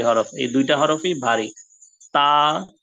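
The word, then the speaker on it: ط: তা এরকম পাতলা সাউন্ড হবে না, মুখ ভরে উপরের দিকে আওয়াজ করে পড়তে হবে ত।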